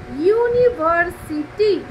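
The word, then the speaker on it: university: এর মধ্যে একটু পার্থক্য আছে, সেটা হলো এমন কিছু কিছু শব্দ আছে যেগুলো হয়তো ভাওয়েল দিয়ে শুরু হয়েছে, কিন্তু যখন আমি সেটা উচ্চারণ করতে যাচ্ছি তখন সেই উচ্চারণটা আমার কনসোনেন্টের মতো সাউন্ড শোনাচ্ছে, সেক্ষেত্রে কিন্তু আমরা তার আগে এ বসাবো।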